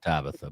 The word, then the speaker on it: Tabitha: Tabitha but I like your pronunciation Tabita.